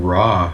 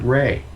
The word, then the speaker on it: Ra: say yeah absolutely even raw from ancient Egypt it's not even raw he pronounces it Ray right and he looks just